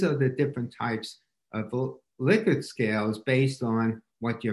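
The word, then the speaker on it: Likert: to know this a few months ago it's pronounced really liquid and not like it but having said that you'll hear me say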